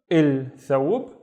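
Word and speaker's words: الثوب: The first syllable is basically il, and il is always a syllable, right? Il, and then thawb, il thawb, the thawb, and then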